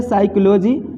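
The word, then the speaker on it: psychology: जैसे यहाँ पे देख लीजिए ये एस से पहले पी है तो पी साइलेंट हो जाएगा, इसको पढ़ेंगे साइकोलॉजी, ये पी को नहीं पढ़ना है, तो साइकोलॉजी मन होता है मनोविज्ञान।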